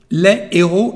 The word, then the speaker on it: les héros: The second one now with the same definite article, les héros. Les héros is the correct pronunciation. As you can hear, there is no liaison between the two words, there is a pause.